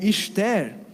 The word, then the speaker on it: Esther: Esther, ou Esther, como seria a pronúncia hebraica, é a pronúncia do